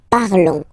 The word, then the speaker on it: parlons: Remember, final s is not pronounced, okay? And then this on together, they will give you the sound on, okay? Nous parlons, all right?